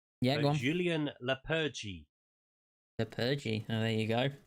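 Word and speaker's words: Julen Lopetegui: And I've figured out how to pronounce the new Wolves' manager name. Yeah, go on. Julien Lepergy.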